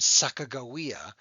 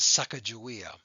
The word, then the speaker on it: Sacagawea: gold and this is a woman named sakagawia which some people mispronounce as sacagawea you'll learn about her